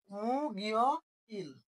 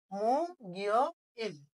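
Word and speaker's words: 목요일: তাহলে মু গিয় ইল কি উচ্চারণ হয়ে যাবে? মু গিয় ইল মানে বৃহস্পতিবার।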